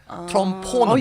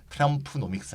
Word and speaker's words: Trumponomics: 그래서 소시오 바이올로지 할 때 그 오 하듯이 트럼포노믹스. 영어로 분석까지 하셨구나. 아, 네. 근데 우리나라 또 트럼포노믹스 그럼 발음이 잘 안 됩니다. 이상하니까. 그렇죠. 그냥 한국어는 트럼프노믹스 하겠습니다.